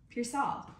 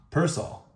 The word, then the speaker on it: Pearsall: And Purcell. Pearsall. Purcell. Pearsall. You're saying peer or pear. Pearsall.